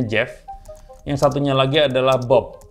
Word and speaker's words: Geoff: Yang satu namanya Jeff, nulisnya Geoff, tapi kan bacanya Jeff.